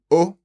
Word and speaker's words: aux: can we you cannot it would become o but spelled a u x so it's the same pronunciation as the singular one exactly okay o and